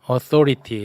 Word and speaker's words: authority: authority, 예, th 권위, 발음 가운데 조심해 있는 말.